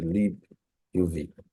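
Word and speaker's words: libuv: it called the Le U so that's right pronunciation so there is a Le UV all right so this is um this is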